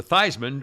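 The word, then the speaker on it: Theismann: they changed it to theisman rhymes with heisman that's a true story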